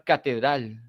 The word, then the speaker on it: catedral: La palabra catedral, la palabra terminal, ¿no? Son palabras agudas.